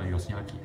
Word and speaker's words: 義光: 的时候，把这里的名称刚好标了音，原来他叫 Yoshiaki，后来我们才能够正确的把他的读音给弄清楚。